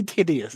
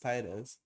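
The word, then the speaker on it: Tideus: Tidus or Tidi I always say Tidius, it's Tidus. Tidius. It's spelled like Tidius, but I'm pretty sure it's pronounced Titus.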